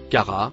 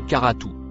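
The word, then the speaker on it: كرة: Le mot en bleu clair se prononce cara ou karatou.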